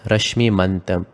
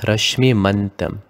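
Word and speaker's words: Raśmimantam: to be made as Rashmimantam. It follows a Sandhi rule because since the M is followed by a T, the M is modified to an N. So make it as Rashmimantam.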